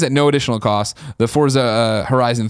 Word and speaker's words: Forza: I did not but did you know that I'm saying it in the correct Italian pronunciation Forza fortza for you you seriously don't hear a t though no yeah you do for I'm say I'm saying it's not a t in the word but you pronounce a little bit of a t sound that's the Italian not fortza not Forza